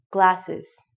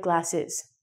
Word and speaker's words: glasses: It's very important that you pronounce the end of the word so it sounds like glasses.